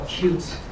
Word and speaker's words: Qt: or Qt, I learned it's the proper pronunciation.